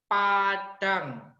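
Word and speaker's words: padaṃ: Terus ada M titik atas, Padam, dibacanya Padang.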